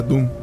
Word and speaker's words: Dud: Se escribe Dud, se pronuncia Doom, y en neerlandés significa demonio.